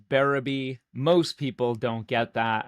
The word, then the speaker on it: Berube: Last name's pronounced Berube. Most people don't get that. I mean, it just doesn't make sense. It should be pronounced Berube.